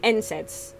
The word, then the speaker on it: NSAIDs: NSAIDs.